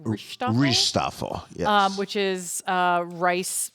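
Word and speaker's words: rijsttafel: and you emailed me, which I'm not going to pretend that I'm pronouncing this correctly, but it's like rishtafel, Rishtafel, yes.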